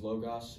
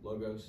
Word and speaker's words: logos: I'm not sure where they are in the Bible, but number one is logos, or logos. That's what it's spelled, but I think it's logos.